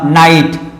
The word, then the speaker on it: night: का combination silent होगा, जैसे मैंने लिखा नाइट, NIGHT, नाइट। आप देखिए जी एच का कॉम्बिनेशन है, तो जब जी एच का कॉम्बिनेशन है तो ये जी एच साउंड नहीं होगा, और NITE, नाइट।